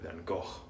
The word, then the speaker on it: Van Gogh: Or as he's more correctly pronounced in, I think it's in Dutch, and I don't speak Dutch, but Van Gogh or something similar. Anyway, that wasn't a bad shave.